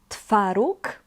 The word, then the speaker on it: twaróg: So here in these two words you have O with a dash, which is pronounced as U. U. Twaróg, miód.